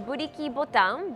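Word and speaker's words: Blikje Button: My last stop of the day is a quaint little cafe in Shimokitazawa called Blikie Button. In Japanese, it's pronounced Buriki Botan, but it's a Dutch word that means tin can.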